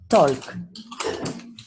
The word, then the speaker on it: talk: Talk. Okay. Once again, don't pronounce the L.